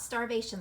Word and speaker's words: starvation: Star, they, shun. Isn't that where those words separate out? And look, you have the vowels in each syllable. Now, look at shun. That makes its own syllable. We talked about that last week, that T-I-O-N. Now, really what's happening here is you mostly hear the O, like on, on. The I is basically silent.